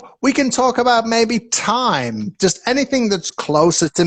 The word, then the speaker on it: Tim: All right, so when it's Tim, the I is very short, Tim, right? Yes. But when I say this, time, Time. this is it's longer, right?